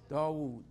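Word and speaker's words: داود: wrote the zaboor David how do I pronounce David in Arabic DeVoe Dawood so what do I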